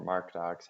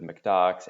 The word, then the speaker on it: MkDocs: it common pronunciations include mcdox mkdox my personal favorite mark docs considering that it is written in mark down but we'll refer to